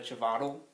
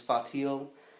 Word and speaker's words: Chvátil: I believe that's how you pronounce it. I always used to say Vlada Chvátil, but I think the correct pronunciation is Fatil, and it's published by